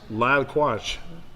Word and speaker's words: Lyle Quach: Lyle Quach.